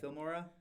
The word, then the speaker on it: Filmora: Filmora?